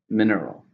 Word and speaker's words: mineral: ground it's a noun how many syllables are in the mineral three stresses on the first mineral this land is rich